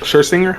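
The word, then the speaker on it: Scherzinger: something with the mass singer judge Nicole uh Shinger, how do you say that?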